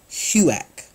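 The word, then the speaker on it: HUAC: unamerican activities committee and the abbreviation is pronounced Hugh act right this committee was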